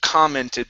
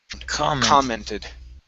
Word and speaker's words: commented: word here is pronounced commented this stress is at the very beginning so we leave that o as an ah sound commented one more time commenting